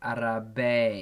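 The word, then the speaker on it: árabe: Anyway, Arabic is keep going, guys, doing great. Thank you. How do we pronounce Arabic again? Arabic is Arabe. Yeah. Not Arabi, but Arabe.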